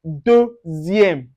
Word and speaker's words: deuxième: Or then when you see Z, XI, SI, or ZI, you pronounce it as deuxième, deuxième.